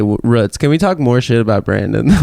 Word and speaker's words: Roots: but it's spelled Roots spelled Roots pronounced ruts I think they say ruts can we talk more